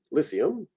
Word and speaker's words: Lycium: Lycopus, we've got here a soft C, Lycium. I hear that as the pronunciation more than like a lyceum. Lycium.